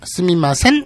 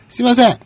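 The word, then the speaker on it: すみません: 네가 지금 방금 얘기한 거 스미마셈, 스미마센, 스미마생 구별을 못해요. 얘들은 미음, 니은, 이음 구분을 못해요. 그냥 응 발음 하나이기 때문에 그러니까 스미마센으로 할지, 스미마생으로 할지, 스미마셈으로 할지. 아무 고민하지 마시고 그냥 빠르게 스미마셍 하면 됩니다.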